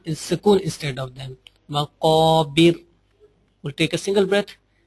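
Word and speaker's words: مقابر: Zurtumul maqabir. Qaf is also one of the bold letter. Make sure when you will be pronounce any bold letter, you will pronounce that letter with the heavy and strong voice.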